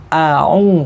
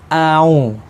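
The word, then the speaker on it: أعوذ: nirojim dalam lafadz Audzubillah tidak boleh Alif dengan ini disambung banyak orang yang membaca kadang-kadang dibaca seperti ini kalau hitut tidak boleh itu sama-sama halnya menyambung Alif dengan air padahal Alif dengan ini tidak tidak pernah bisa bersambung jadi harus terpisah seperti ini aau bukan aw kalau itu kan sambung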